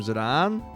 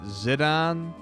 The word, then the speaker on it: Zidane: Like, I grew up calling him Zidane. But I know a bunch of people who pronounce it Zidane, Zidane, Zidane. I've heard them all.